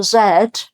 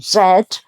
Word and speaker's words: Z: I said up here the letter Zed which we pronounce like Zed in the UK is pronounced Z in America so A to Z